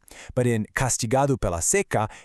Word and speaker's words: seca: It's spelled identically, s e c a, but in a roupa está seca, it's pronounced seca with a closed vowel sound and it means dry. But in castigado pela seca, it's pronounced seca with